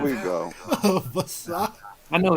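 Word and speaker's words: Vassa: Yo, The A is silent. The one in the middle.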